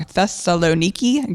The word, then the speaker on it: Thessaloniki: apparently is now the I'm going to pronounce it wrong. Thessaloniki Greece maybe. Um yeah, our editor is giving us the sign that it is correct.